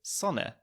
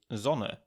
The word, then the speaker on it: Sonne: of germany and importantly in standard german german it's pronounced like the english zed like z so for the word sun an austrian would probably say sonne whereas a german would probably say zono and a lot of